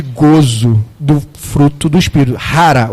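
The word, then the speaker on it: χαρά: Rara o nome, né? Se escreve com ch a transliteração. É uma letra que em grego é parece um x, mas a gente pronuncia como ri.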